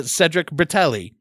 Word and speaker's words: Cedric Bertelli: talk to my new friend and yours uh Cedric bratelli did I say your name right I should